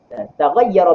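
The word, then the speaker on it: تغيّرا: Tetapi tahir mukhalid saat itu wala bima, dan tidak dengan barang taghayyara bi tahirin mukhalid. Begitu cara baca. Alif pada taghayyara, alif di itlaq.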